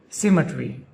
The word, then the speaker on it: symmetry: The emphasis is on the first syllable sim. Symmetry.